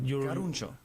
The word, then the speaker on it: Caruncho: Caruncho.